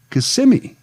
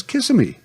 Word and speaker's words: Kissimmee: in the area but pronounced a local town's name correctly as kissimmee when almost everyone from out of town pronounced it incorrectly as kissimmee well eventually the cat